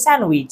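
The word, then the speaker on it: sandwich: স্যান্ডউইচ সবাই বলে স্যান্ডউইচ আমরা বলবো স্যান্ডউইচ স্যান্ডউইচ ফলো মি আমরা ডি তে উচ্চারণ করবো মানে দেখো তুমি মনে করো এখানে ডি টা নাই মনে করো ঠিক আছে স্যান্ডউইচ স্যান্ডউইচ স্যান্ডউইচ স্যান্ডউইচ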